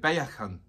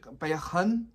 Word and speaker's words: Baekhyun: his name is it baekhyun or i think it's it's like almost like saying beckham i'm almost saying bacon but it's like bae baekhyun so please i break